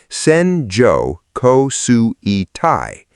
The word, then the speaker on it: Senjo Kosui Tai: Japanese meteorologists have a name for the band this produces, Senjo Kosui Tai, pronounced Senjo Kosui Tai, and it is the signature of the country's worst rainfall disasters.